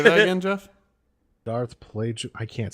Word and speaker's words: Plagueis: talked about Darth Plagueis the Wise. Darth Wait. Plagueis the Whoa, Wise hold was- on. Say that again, Jeff. I think we just blew Todd's mind. Say that again, Jeff. Darth Plagueis.